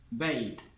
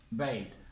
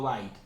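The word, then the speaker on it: بيت: Beit. Beit. Acuérdense que esta fatha, la A, siempre que va seguida de una I, termina pronunciándose como una E. Por eso digo beit y no bait.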